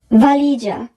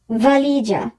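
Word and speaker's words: valigia: ভালিজা, ভালিজা, suitcase. এখানে যদি বানানটি follow করি সবার শেষে আছে GE এই তিনটি বর্ণ মিলে হবে যা, তাহলে উচ্চারণ হচ্ছে ভালিজা।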